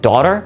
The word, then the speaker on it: daughter: And we've left that little GH in the middle. So that's why you have words like daughter, which are spelled D-A-U-G-H-T-E-R.